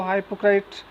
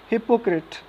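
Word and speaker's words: hypocrite: अब ध्यान देने वाली बात यहाँ पे देखो, हिपोक्रिट, इसका जो प्रोनाउंसिएशन है उस पर ध्यान देने वाली बात है। बहुत से लोग इसको हाइपोक्राइट बोलते हैं और भी बहुत प्रकार का प्रोनाउंसिएशन कर देते हैं, लेकिन इसका सही जो प्रोनाउंसिएशन होगा वो होगा हिपोक्रिट, यानी ढोंगी हो तुम।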